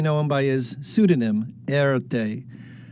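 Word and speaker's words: Erté: Today we know him by his pseudonym, Erte. It's the French pronunciation of his initials.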